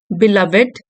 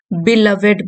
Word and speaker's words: beloved: आप देख सकते हैं इसका टाइटल है a tribute tribute to अ बिलवेड बिलवेड teacher. इसको बिलवेड बोलते हैं, बिलव्ड नहीं, ठीक है।